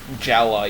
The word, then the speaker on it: Jaller: And Gela is honestly the weirdest pronunciation completely, because his name is spelled Jaller. Yeah, it took me like Gela. It took me like 5 years to figure out that it was Gela, even though like in